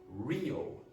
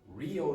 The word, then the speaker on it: Rio: Portuguese speakers have problems with R when it's at the start of words because they have a different sound in Portuguese.